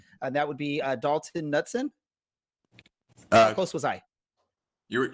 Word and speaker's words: Knutson: that would be adulthood Knutson of course was I your I mean it's almost fun I'm just yes I pronounce the K so it's Knutson can I get some